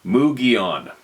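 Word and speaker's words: Mogollon: in the mountains of Arizona and the Mulan pronounced mugon isn't that funny I always say my my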